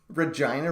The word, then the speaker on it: Regina: Is that really Regina? That can't be right. Are you kidding? Regina Roughnecks? All right. Rob Gallimore is telling me that it rhymes with the lady bar.